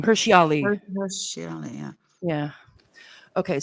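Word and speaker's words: Hirsi Ali: Hirshi Ali.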